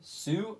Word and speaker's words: Sioux: I don't recognize sue so um sue we spelled like six flags I'm kidding right now no like 602 Falls is a place like SI o ux the same this site